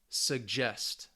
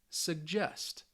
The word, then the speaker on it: suggest: But if the verb has 2 syllables for most of the time, it's going to be on that second syllable.